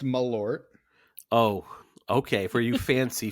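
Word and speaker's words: Malört: He is having some Marlot. He is our friend, good old friend Chewy. Stephen Foxworthy, how are we? Doing great, Mike. It is pronounced Malort.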